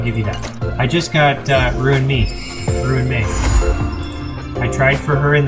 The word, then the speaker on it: Ruan Mei: You do know it's pronounced Ruan Mei.